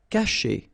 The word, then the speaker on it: cacher: Cacher. Okay, so remember, when you combine this C and A, you get the sound K, okay? And then chez, caché.